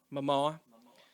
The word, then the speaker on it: Momoa: Pronounce his last name for me, Mike. Momoa? Momoa.